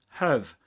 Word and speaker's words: have: That the word have is actually pronounced as have. As in this case, it's an auxiliary verb.